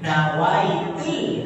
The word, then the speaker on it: nawaitu: Nawaitul, ada L-nya.